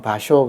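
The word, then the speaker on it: 芭蕉: 비속이 파초 아고 하는 파초가 일본말로 발음하면 바쇼 그든 그래서이 바쇼가 남긴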